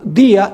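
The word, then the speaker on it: διά: Día de I a. En vez de tener el acento día en la i, tiene el acento en la a.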